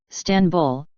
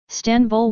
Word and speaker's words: İstanbul: and dotless I also while in English the stress is on the first syllable is in Turkish it is on the second syllable 10 stanbul was officially adopted as